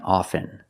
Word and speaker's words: often: words soften and often with both words I don't pronounce the T I say soften and I say often but sometimes you'll hear people say often and it's not wrong it's okay people say both often and often I prefer often now